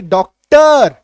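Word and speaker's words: doctor: क्या हो जाएगा, अ बन जाएगा, जैसे कि डॉक्टर, डॉक्टर, इसको हम लोग ऐसे डॉक्टर भी बोल सकते हैं, डॉक्टर नहीं, डॉक्टर, साइलेंट अ बन गया, एक्टर साइलेंट बन गया, एलिवेटर ट अर साइलेंट बन गया, ठीक है।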